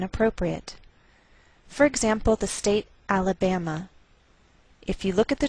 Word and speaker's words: Alabama: by a lowered Mark so the greater stress is on this third syllable we say Alabama Alabama what else is shared